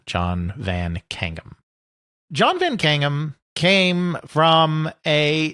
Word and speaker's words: Van Caneghem: John Van Kangum. I may be slightly mispronouncing, but it is somewhere in that vicinity. C A N E G H E M John Vancum.